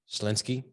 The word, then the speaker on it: Schlinsky: great how to uh how do you say your last name schlinsky so just like it it's spelled awesome yeah four consonants